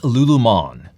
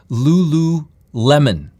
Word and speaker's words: Lululemon: stock on my list is lulumon lulu lemon now i'm pronouncing it correctly lululemon ticker symbol l-u-l-u the